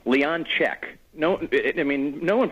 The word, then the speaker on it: Leonczyk: we've talked you know people I've got Leon shashki I got Leon ski Leon grety you know whatever just